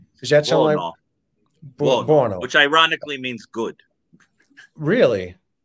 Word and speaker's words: Buono: How do you pronounce his last name? Is that something? Buono.